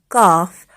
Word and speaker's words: calf: So say these words aloud: knife, no, knock, knob, night, calm, calf, half, talk, walk.